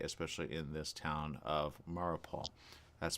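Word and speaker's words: Mariupol: as of late especially in this town of marupaul that's spelled m-a-r-i-u-p-o-l and it says literally why why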